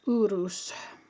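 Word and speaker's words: Uruz: So, this is Urus. Urus, which we say in Norwegian, urus.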